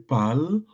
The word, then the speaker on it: parlent: So, ils parlent de leur projet. We pronounce the pal like for the je, Thank you very much. But in but writing, the writing will add listen, nt. so this class, we are